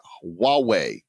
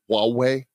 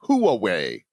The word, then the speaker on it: Huawei: Travis write both yourself and myself have been ko Elle's for huawei I always have a hard time pronouncing it the Chinese tech giant did I pronounce it right Huawei you did Huawei you know it's funny as